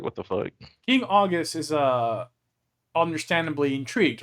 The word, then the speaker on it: Augeas: Augeas. Yeah, Augeas.